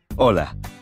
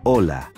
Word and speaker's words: hola: hello you would say hola did you notice that although hola starts with the letter h it is not pronounced the letter h is always silent in spanish nice now practice saying